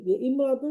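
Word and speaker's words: امرأة: এখানে এটা আরেকবার পড়ি ইমরাতুন শব্দের আগে অন্য শব্দ হলে আলিফটি শুধু লেখায় আসে উচ্চারণে আসে না যেমন ইয়ামরাতুন যেমন সকলেই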